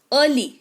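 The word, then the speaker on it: early: ई के तुरंत बाद अगर ए आर लिखा हुआ है तो ई साइलेंट हो जाएगा। उदाहरण के तौर पर अर्ली है ना?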